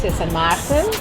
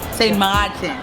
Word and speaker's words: Sint Maarten: Okay, the Dutch spelling is Sint Maarten. Sint Maarten. And the French one is Sint Maarten. But we locals say Sweet Sint Maarten land.